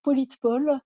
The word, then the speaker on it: Politepol: Je peux citer par exemple Politpol, hein, s'écrit Politepol, qui permet à partir de l'URL